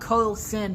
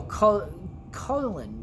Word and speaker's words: Carlin: Then I had a bitch for science named Miss Carlin. Not Carlson, my fucking cunt of a 3rd grade teacher. No, Carlin. Yeah, that's how you say it.